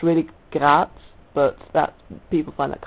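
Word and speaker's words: Graz: it's yeah I come from a town called grat is that's how English people pronounce it it's it's really grats but that people find that kind of difficult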